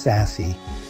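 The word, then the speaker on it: SASE: Value in these discussions on SAS secure access service edge pronounced sassy and cyber security insights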